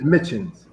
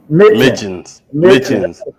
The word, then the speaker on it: Mitjans: It's Minion is the pronunciation, right? What's that? Is it Minion is the correct pronunciation? It's Mitjans. Mitjans.